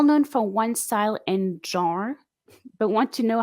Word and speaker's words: genre: Genre. Jean. Yes, with Okay. like the. Okay. All right. Sorry, I Terrific.